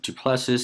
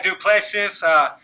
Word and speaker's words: du Plessis: Duplessis had a great win. Duplessis.